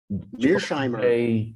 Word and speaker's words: Mearsheimer: Mice, how do I pronounce his name? The man of the hour? Mearsheimer. Mearsheimer, yes.